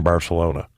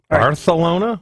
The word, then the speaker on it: Barcelona: Barcelona with a TH? Yeah, Barcelona.